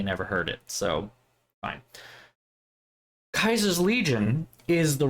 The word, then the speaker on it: Caesar: wrong answer, and it's Kaiser's Legion. And if it sounds like that's saying Caesar wrong, you're correct. It is Caesar. It is spelled the same as Caesar, Caesar, but everyone in the game pronounces it Kaiser.